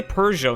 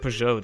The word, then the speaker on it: Peugeot: They say Peugeot instead of Peugeot, dude. I can deal with Peugeot, even though there's no R in that fucking brand's name.